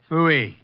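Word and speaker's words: Pfui: Fooey. What's that? Fooey. It can be spelled in several ways. I spell it P-F-U-I. Fooey.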